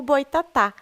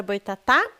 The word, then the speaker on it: Boitatá: o significado da palavra Boitatá portanto no Tupi cobra de fogo se escrevia como um boy Tatá e a pronúncia de um boy é semelhante ao boi do português o que transformou um